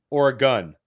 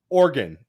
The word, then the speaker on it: Oregon: How am I supposed to say Oregon, Billy? Oregon. Yeah, Oregon. Oregon, like the organs in my body. Yeah, Oregon. Okay, Oregon.